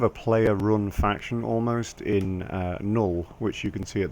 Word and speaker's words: Null: player-run faction almost in Null, which you can see at the bottom left, N-U-L-L. I realize my U's are pronounced in a kind of Northern English way, but it's kind of